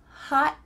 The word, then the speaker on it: hot: It's a hot one today. Did you notice something about the word hot? What happened to that final letter?